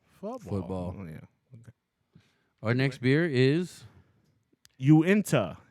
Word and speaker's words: Uinta: next beer is Uinta Uinta I believe is how you pronounce that Uinta and you're guessing no no I looked it up Ashley okay you you don't know how to read the pronunciation well I thought it was Unida or you or you